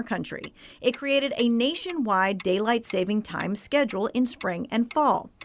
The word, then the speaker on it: Daylight Saving Time: This is the right way to say it. A whole lot of people want to add an S to the savings, but there is no S in Daylight Saving Time.